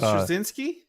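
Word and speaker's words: Straczynski: Uh, how do you pronounce his last name? Michael J. Michael Strazinski.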